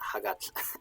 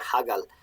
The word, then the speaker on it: Hagal: I was trying to stop myself from pronouncing it Hagat, like it's modern Icelandic or something, Hagat. But yeah, Hagal is, yeah.